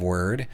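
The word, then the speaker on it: wyrd: have a very strong sense of word or weird you can pronounce it either way and thereby gain the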